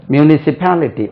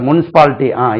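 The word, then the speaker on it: municipality: department எழுதிக் கொண்டிருக்கிறது அந்த மியூனிபாலிட்டி உச்சரிவு பாருங்க மியூனிபாலிட்டி அப்படி சொன்னா புரியாது சார் முனிசிபாலிட்டி இப்ப புரியுது ஒழுங்கா சொல்லுங்களேன் சார் மியூனிபாலிட்டி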